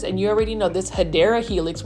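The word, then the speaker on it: Hedera helix: you already know this hadera Helix which is the correct way to say it or English ivy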